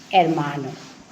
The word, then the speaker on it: hermano: means armano hermano yeah H is not pronounced, no, so it would be hermano.